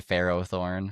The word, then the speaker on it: Ferrothorn: I say Ferrothorn. Yeah, Ferrothorn, because it's Feroz, isn't it?